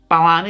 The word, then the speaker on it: Bellami: Is it Bellami? Bellami, like Bill Bellami, like the actor from like Fastlane.